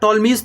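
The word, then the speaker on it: Ptolemy: Next concept आप समझ लीजिए, याद रखिएगा इसको बोलते हैं हम लोग टॉलमीज थ्योरम, है ना। पी साइलेंट रहता है।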